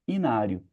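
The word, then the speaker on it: hinário: E a gente tem um h mudo, fala inário, mas é daqui que vem a palavra.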